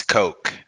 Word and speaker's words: Koch: owens uh from industries it's pronounced like that right it's coke coca-cola yeah coke koco thank you and